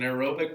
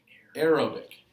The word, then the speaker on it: aerobic: be cellular respiration now aerobic if you just look at that first part of that it says air and it's pronounced like air but it's not air really it's the stuff in